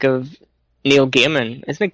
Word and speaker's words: Gaiman: Like if you take the like of Neil Gaiman, isn't it Gaiman you pronounce his surname?